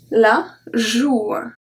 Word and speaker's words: joue: If we remove the E, it makes the sound OU. OU. So we have la bourre. La bourre. La joue.